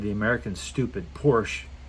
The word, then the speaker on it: Porsche: And when the Porsche, sorry, I almost said the American stupid Porsche, it's 2 syllables, Porsche. If you can't do the sh, come on.